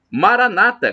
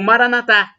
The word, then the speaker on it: Maranata: aramaico dialeto de Jesus eu clamo Maranata como dizem os protestantes e evangélicos com a tônica na penúltima sílaba ou Maranatha Maranatha como dissemos nós católicos é uma tônica na última sílaba mas o significado é